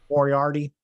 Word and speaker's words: Moriarty: First, Stokely Hathaway on the previous night's Rampage episode got Lee Moriarty to, is it Moriarty? I don't know how to say his last name. Moriarty.